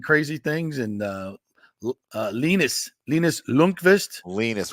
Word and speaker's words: Linus: Linus, we got to get his name right. IndyCar series, yeah. Rhymes with weenus.